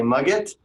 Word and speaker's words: Magit: ways to pronounce it you can all say mug it I went and looked online and the current maintainer says that you can either pronounce it as in mums get or magic with the teat paint the seat change to a tea he prefers either one